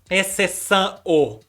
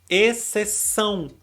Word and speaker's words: exceção: Mais uma vez, o O do final da palavra a gente pronuncia com o som de U. Ninguém fala exceção. A gente fala exceção.